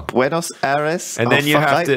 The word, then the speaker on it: Buenos Aires: I think Buenos Aires. Buenos Aires. You have to have a little bit of a lisp as well. Buenos Aires.